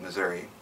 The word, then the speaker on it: Missouri: i personally pronounce it missouri and i never had